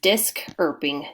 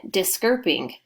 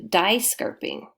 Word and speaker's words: diskirping: last syllable remains ing so this word is disk herping discerping as opposed to dye scarfing sounds different that's why